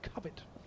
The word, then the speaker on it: Cowbit: It's spelled Cowbit but pronounced Cubbet.